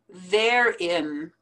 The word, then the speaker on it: therein: them together herein therein therein the word there the word in put them together therein bias bias salmon